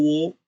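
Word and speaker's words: は: वा, और ये सिर्फ हा लेटर अकेले आया तो उसे वा कहते हैं, नहीं तो एक साथ आया किसी लेटर के साथ तो वो हा ही रहता है और हम ऐसे उसे हा ही प्रोनाउंस करते हैं।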